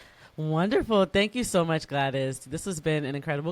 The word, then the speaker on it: Gwladys: Um, so I'm Glattis on all social media, Instagram, YouTube, Tik Tok, Pinterest, Facebook. Yeah, everywhere. My name is spelled G W L A D Ys. The W is silent.